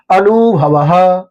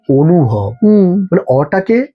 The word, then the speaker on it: অনুভব: মানে আমার নাম ধরুন অনুভবাহ সংস্কৃত আনুভাহ আনুভাহ এটা উচ্চারণ আনুভা অনেকে আ এর মত শোনায় আবার হিন্দিতে। কিন্তু আমরা কি বলি? অনুভব অটাকে ও এর মত করে উচ্চারণ।